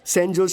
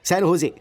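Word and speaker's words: San Jose: Oh sorry sorry sorry sorry sorry, सैन होजे, SANJOSC, इसकी spelling यही है ना, लेकिन इसमें जे साइलेंट रहता है, इसलिए इसे सैन होजे बोलते हैं।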